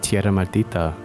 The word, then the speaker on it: Tierra Maldita: showcase for Fire Emblem Tierra maldita did I pronounce that right yeah it's actually uh well I guess it's close it's actually uh Spanish so it would be pronounced Tierra Martita but I can't quite